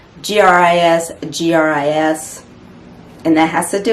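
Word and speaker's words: gris-gris: in this case um it's actually spelled a little bit different but it's pronounced the same gris gris and that has to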